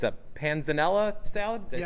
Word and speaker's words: panzanella: It's a panzanella salad?